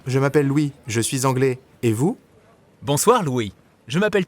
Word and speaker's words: anglaise: So an Englishman would use anglais, but an English woman would say anglaise. Je suis anglaise. Anglaise. Notice how you do pronounce the S in that case.